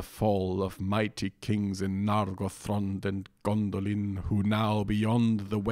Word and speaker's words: Nargothrond: dr and thr, and so according to the pronunciation rules which we've been told, they should both be stressed on that second to last syllable, so Imladris and Nargothrond.